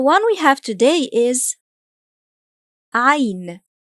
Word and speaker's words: عين: The one we have today is ʻayn. ʻayn.